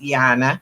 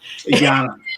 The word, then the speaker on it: Yana: And I know you haven't had to say my name before, but it's Yana. Yana.